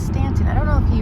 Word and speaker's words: Staunton: We were thinking about it, and it's definitely pronounced Stanton. Stanton was a politician who was in the government with Abraham Lincoln. It reminded me, like, yeah, no, it's Stanton.